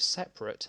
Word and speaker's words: separate: For most speakers, the adjective separate has two schwa vowels in a row.